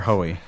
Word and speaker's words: Hoey: It's like Joey, but with an H.